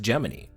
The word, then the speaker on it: Gemini: Apollo today we're going to talk about project geminy first we need to cover the obvious elephant in the room I explained this in a short already but the thing about gemin is it's pronounced geminy yes its name is derived from the third